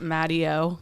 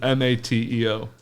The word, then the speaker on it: Mateo: And I feel like people would pronounce it Matteo because it's Matteo. Well, this one's just Mateo.